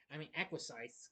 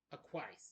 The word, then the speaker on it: acquiesce: Despite initial skepticism, the Stooges acquis acquisize, excuse me. I'm sorry if I mispronounced it. Acquiesce, that's how you say it.